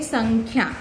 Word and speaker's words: संख्या: अब इसको आप स, ड, ख, या ऐसे नहीं पढ़ सकते हैं, इसे कहते हैं संख्या।